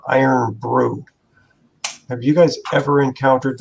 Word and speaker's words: Irn-Bru: But I thought you said Iron Brute. no, Iron Brew.